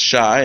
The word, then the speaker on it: Shai: out for people if I settle on Shai pronounced Shai and means gift in Hebrew um she also